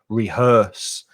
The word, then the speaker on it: rehearse: the noun is rehearsal be careful of the pronunciation of that vowel sound er rehearse and a cover version